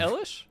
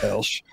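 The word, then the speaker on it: Elesh: You guys say Elish. I don't even pronounce the second E. Elsh. I do. I've always called her that. I see the E. I can read, but I just don't pronounce it.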